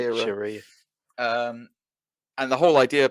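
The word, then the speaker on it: Shiera: Yeah, you're right, Shira.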